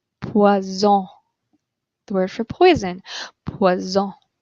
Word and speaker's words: poison: If you have one S in the middle of a word, the S sounds like a Z. Poison.